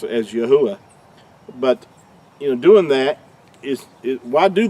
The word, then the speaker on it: Yahuah: Creator's name is pronounced Yahuah, and it's not. That third letter, we've already talked about this, makes an oo sound, not a W sound or a V sound.